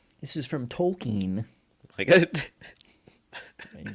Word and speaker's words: Tolkien: it was Elvish Elvis this is from Tolkien he says that I know I know you're